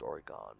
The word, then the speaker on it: Oregon: Summerfield and I are from Oregon. Oregon. I was going to say it's pronounced Oregon, but you know.